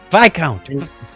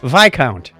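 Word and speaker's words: viscount: horatio nelson the first this count by count you got to you have to learn your royal titles here discount what vi count what the first vi count nelson v-i-s-c-o-u-n-t yes it's pronounced by count okay whatever vice count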